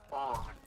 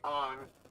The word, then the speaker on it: Aang: And everyone already knows this, but his name's not Aang in the movie, it's Ong.